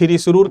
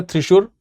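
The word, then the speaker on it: തൃശ്ശൂർ: थिरी सुरूर है तो इसी को हम लोग थिरी सुरूर कहते हैं थिरी सुरूर या सुरू या कहीं कहीं थ्रिशूर भी लिखा रहता है थ्रिसूर ठीक है जो भी आप इसको उच्चारण कर सकते हैं वह लिखा है इसके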